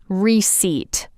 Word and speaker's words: receipt: For example, receipt is pronounced receipt.